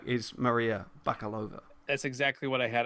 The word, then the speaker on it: Bakalova: think could come from maria baklava i could pronounce that wrong again i think it's baka bakalova bakalova uh and you know we